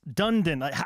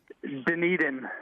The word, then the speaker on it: Dunedin: on social media saying it's Dunedin or it's Dundon. How do you say your team name? Dunedin.